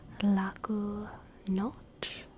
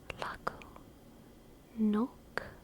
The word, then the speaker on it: Laku noć: Laku noć? Is it noć or nok? Nok? Laku nok? Laku nok? Laku noć? Laku nok? Laku noć? Pronounced like ch, ch.